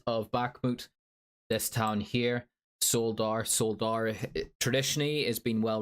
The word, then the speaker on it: Soledar: so forgive me, but I pronounce it as it's spelt, Soledar, is reported to have fallen to the Russian forces, mostly composed of Wagner.